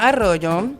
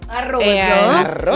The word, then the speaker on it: Arroyo: So, my name is Arroyo. Arroyo. You gotta roll your R's.